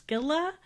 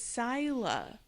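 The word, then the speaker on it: Scylla: But this is Kuribdis and so we are getting introduced to Caribbdus and then I don't know if it's Skila or Skyla.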